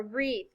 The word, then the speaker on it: wreath: do you think the key word is a wreath can you hear the er and wreath yeah